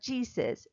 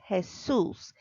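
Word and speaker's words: Jesús: sometimes it's hard but if their name is hassles it's not Jesus is her Seuss if the name is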